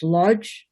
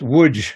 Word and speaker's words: Łódź: Yeah, that was the only other thing was LODZ. Is that where your family came from? Lodz, you said it? Yes, and I learned that it's pronounced Lodge. It's Woods, yeah, Woods.